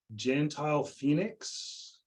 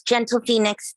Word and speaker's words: Gentle Phoenix: strongly support this motion Gentile Phoenix sorry if I mispronounced your name go ahead hi it's gentle Phoenix thank you so much